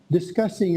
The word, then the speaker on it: discussing: not arguing but just discussing a certain subject yeah yeah this discuss discussing this thing yeah the emphasis on the second syllable discussing what what do